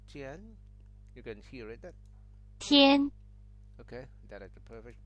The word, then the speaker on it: 天: And Tian is Mandarin, and basically myself is the Cantonese. They say Tin, okay?